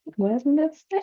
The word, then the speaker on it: Wednesday: know that the D is not mentioned, right? No, I don't have to mention D. Exactly, it is When? silent. The D is silent.